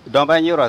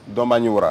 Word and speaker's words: Dombagniwra: Dans leur langage, si bien, ils ne peuvent pas prononcer. Voilà, Piele. Piele. Voilà. Piele. Piele. Ok. L'autre, c'est Dombanyura. Dombanyura, ça, c'est facile, ça. Dombanyura.